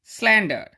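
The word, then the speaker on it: slander: তখন আমি বলে দেবো, যেমন স্ল্যান্ডার শেষে যদি আর থাকে, সিলেবেলের শেষে যদি আর থাকে তার উচ্চারণ হয় না।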